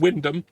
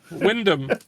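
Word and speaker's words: Wymondham: God uh it's it's it's said Windom Windom are they aware that uh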